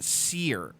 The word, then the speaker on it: Cyr: It's pronounced Seer. S-E-E-R.